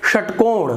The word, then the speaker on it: षटकोण: श, षटकोण, देखिए षटकोण, यहाँ पे षटकोण या षटकोण नहीं बोल रहा हूं मैं, यहाँ पर उसका बेस जो है थोड़ा बढ़ गया है, भारीपन आ गया है, षटकोण, तो ये सही श का उच्चारण है।